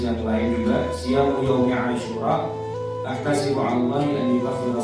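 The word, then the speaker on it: عاشوراء: Nah, jadi Asyura, ain, alif, shin, waw, ra, alif, ada hamzahnya juga. Jadi bacanya Asyura, ada pengorah juga. Asyura artinya hari yang ke-10. Tapi orang Jawa mungkin susah mengucapkannya dengan benar, akhirnya jadi suro.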